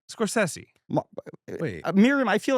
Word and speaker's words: Scorsese: the early Scorsese collaborator. Yes. Am I saying it right? This is our first episode. Martin Scorsese? How do I say it? Scorsese. Scorsese.